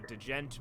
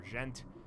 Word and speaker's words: djent: It's either djent or gent. I don't. I think know it's Gent.